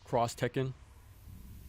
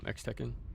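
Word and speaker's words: Street Fighter X Tekken: But yeah, like Street Fighter Cross Tekken. That's how you pronounce it instead of X Tekken.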